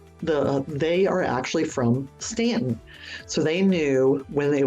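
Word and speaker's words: Staunton: say it correctly so it's Stanton not Stanton all right we are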